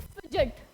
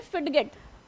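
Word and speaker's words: fidget: अब देखो ये तो अगर हम वैसे अगर प्रोनाउंस करें अपनी इंडियन लैंग्वेज में तो वो हम इसे क्या बोलेंगे फिड गट नहीं इसकी करेक्ट प्रोनंसिएशन है फिजेट ठीक है और जबकि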